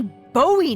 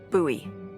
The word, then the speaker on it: Bowie: And then all of a sudden, with no warning, he pulls out this huge rusty Bowie knife. It's actually pronounced Bowie. What? No, it's like the last name, like David Bowie.